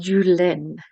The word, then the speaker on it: Juhléne: It's pronounced Julen.